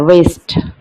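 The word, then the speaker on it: wrist: W silent है, वेस्ट।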